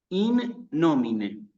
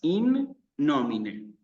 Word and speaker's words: in nomine: Se tiene que escuchar con claridad que la palabra termina con una E. In nomine, ¿sí? Son dos palabras. In nomine, ¿sí?